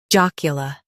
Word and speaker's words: jocular: Joc, y, l, jocular. U.S. stresses J-A-A-K, UK stresses J-O-K.